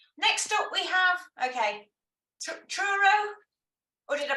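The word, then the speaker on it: Truro: you very much next up we have okay churro or did I pronounce that wrong as well nope that's right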